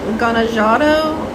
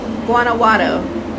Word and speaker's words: Guanajuato: Okay, if I say the word Guanajuato in 2 words, you will say it right. And first say the word guana, and then Watto, and then say the whole word Guanajuato.